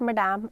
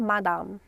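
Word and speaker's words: madame: Don't call it मडाम और मैडम. इट्स मदाम.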